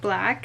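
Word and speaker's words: BLAQ: this box which is black or BL aq but I think it's pronounced black it's an Australian brand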